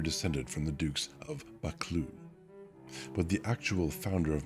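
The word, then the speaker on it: Buccleuch: And the video I watched is 59 seconds long, and he finally gets to it at about the 30-cond mark. Bakloo.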